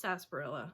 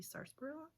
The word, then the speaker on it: sarsaparilla: I've heard it pronounced sarsaparilla, and I've heard it pronounced sarsaparilla. It has an R, S-A-R, so I guess technically it should be sarsaparilla.